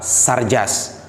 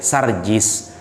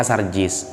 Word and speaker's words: Sarjis: bahwa yang disalib adalah sarjus bukan Sarjan ya sarjis cara bacanya sarjis nah cara melafalkannya aja dia sudah salah Ya enggak apa-apa lah